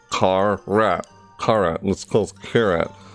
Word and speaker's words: Carrat: all right yeah tear it tear at like car rat car at let's close carrot you here the carrot I don't I'm pronouncing it right it's like tear at like